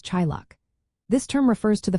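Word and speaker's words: teaghlach: The first word is tiglatch which is pronounced approximately as chillock.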